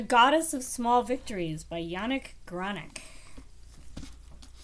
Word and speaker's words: Yannick: The Goddess of Small Victories by Yannick Granek. It's quite the name. The name is spelled Yannick, Y-A-N-N-I-C-K, Granek, G-R-A-N-N-E-C.